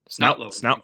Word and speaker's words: Snotlout: Snout. That's how you pronounce his name.